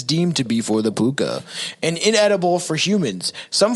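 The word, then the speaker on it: púca: It's Puka.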